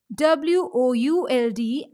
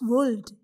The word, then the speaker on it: would: shirt calf and half in all these words letter l is silent we pronounce w-o-u-l-d as would not as wold it means wood is